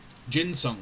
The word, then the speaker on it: ginseng: Is it ginseng or ginseng? Pronounce ginseng. Ginseng. It's ginseng. I've been completely wrong the entire time.